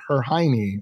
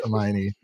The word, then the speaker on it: Hermione: She would say her Hiney. And I'm like, yeah, that's Hermione.